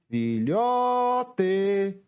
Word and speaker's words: filhote: Chamando a palavra filhote. Qual foi a sílaba que eu mais demorei pronunciando? Foi a sílaba lhó.